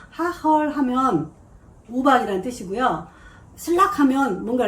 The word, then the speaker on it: Hagel: 네덜란드에서 그 지 영어 발음이 흐라고 좀 이렇게 세게 발음이 나오거든요. 하헐 하면 우박이라는 뜻이고요.